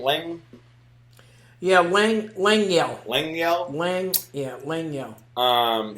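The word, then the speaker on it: Lengyel: say his name Lang yeah Lang Lang yel Lang yel Lang yeah Lang yel um he tells one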